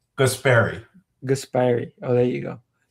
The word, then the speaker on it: Guaspari: It's Guaspari.